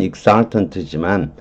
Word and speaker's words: exultant: 그 다음에 exultant EX는 EG로 발음하고요. S로 또 넣는 거예요. ESSUL 이렇게 읽어도 되는 거예요. 발음은 exultant지만 X는 out의 뜻이고요.